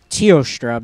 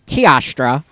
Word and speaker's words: Teostra: see i always feel like tiastra should be pronounced teostra because i think leo when i see tio but apparently it's tiastra and that's how it's pronounced we flashbomb them